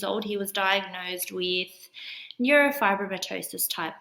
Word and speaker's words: neurofibromatosis: or 2.5 years old, he was diagnosed with neurofibromatosis type 1, which I had never heard of before. What is that? Neurofibrosis.